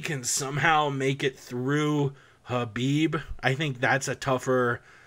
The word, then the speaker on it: Khabib: People, you don't pronounce the fucking K. It's not Khabib. Stop saying Khabib. Khabib Nurmagomedov and Cerrone are going to square off.